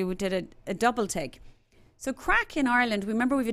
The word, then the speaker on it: craic: there too plenty but CRA IC spelt but pronounced crack means fun in Ireland